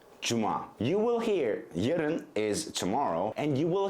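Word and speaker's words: yarın: you will hear jiren is tomorrow and you will hear a lot of native turkish speakers pronounce it yaden they will make it a long first syllable but it is not so long it's just saying would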